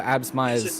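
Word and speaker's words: Absmeier: got completely wrong uh we still get uh absmeyer's uh name name wrong he uh it's it's abs meyer you've got a shot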